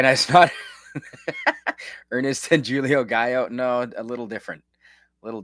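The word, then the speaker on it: Gallo: Uh pronounced G A L L O. No, spelled Gao.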